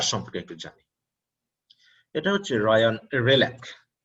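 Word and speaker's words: Ryan Hreljac: এটা হচ্ছে রায়ান রেলাক। আমরা একটু উচ্চারণে খেয়াল রাখবো, এইস এবং জি এর কথা বাদ গেছে, অতএব স্পেলিং অনুসারে প্রনাউন্সিয়েশন হয়নি। আমরা এখানে নামটি জানবো, রায়ান রেলাক।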